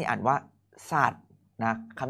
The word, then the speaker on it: ศาสตร์: โอเค นะ ต่อ ไป คำ นี้ อ่าน ว่า ศาสตร์ นะ คำ นี้ อ่าน ว่า ศาสตร์ นะ ครับ สะกด ครับ ส อะ ด สัตว์ รวม เป็น